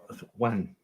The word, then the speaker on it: Nguyen: So no, Nguyen. So it's actually the way it's spelled, really. Nguyen. No, Gwen.